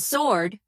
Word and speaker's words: sword: Oh, and sword. Why is the W silent? Like, where did it go?